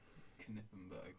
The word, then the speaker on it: Knittenberg: i'll try it yes you do pronounce the k knittenberg is the name good that's good to